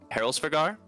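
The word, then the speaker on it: Hræsvelgr: a feathered wyvern, like it's always hard to pronounce this one. Heroldsvigar?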